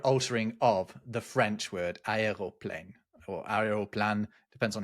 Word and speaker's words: aeroplane: There are a lot of quotes that describe people pronouncing it as uh aerial plane instead of aeroplane.